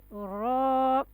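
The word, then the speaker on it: ر: yeah, heavy letter have which sound? Yeah, it has an ow sound.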